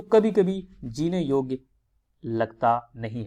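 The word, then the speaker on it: Jung: सो प्रसिद्ध विश्लेषी मनोवैज्ञानिक जिनका नाम है कार्ल युंग, जिसे यहाँ पर जे साइलेंट करके युंग लिखा है। सो कार्ल युंग एक मनोवैज्ञानिक है।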